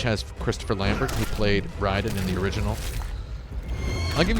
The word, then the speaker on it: Raiden: very difficult okay so here's a great thing riding his name would actually be pronounced riding but Boone and Tobias the original